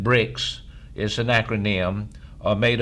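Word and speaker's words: BRICS: as BR rics uh you would pronounce that bricks is an acronym or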